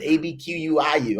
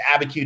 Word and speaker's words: Abiquiu: I couldn't even pronounce it, Abquiu. I was like, what? We were from Harlem, New York to Abiquiu, New Mexico.